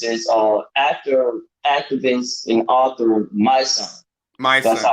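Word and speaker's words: Mysonne: So the lead rapper we use is actor, activist, and author My Son. My That's Son. how Okay. he pronounces his name.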